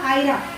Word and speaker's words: EIRA: अब रहा आयरा के बारे में, एक्चुअली ये हमारे जफर खान साहब को बोलने नहीं आ रहा, वो एक्चुअली आयरा है। सुबह से प्रैक्टिस कराई, उसके बाद फिर वही फाइनली साइलेंट है, आयरा है।